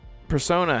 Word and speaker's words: Persona: Persona?